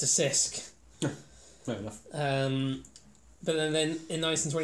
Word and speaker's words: Cisk: an 1840s and the locust are difficult to pronounce than the english worth check and crafts it's a Sisk then in nice and swear he ate the